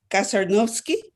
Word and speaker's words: Kasarnovsky: Joe Kasarnovsky. Yes, he's here. I'm promoting him right now. Hello, Mr. Kasarnovsky. Yeah. Did I mispronounce your last name? No, you did an excellent job.